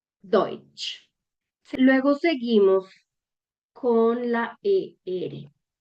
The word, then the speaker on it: Deutsch: Entonces nos damos cuenta que la E con la U la vamos a leer, o sea, aquí vamos a leer literal esto. Deutsch.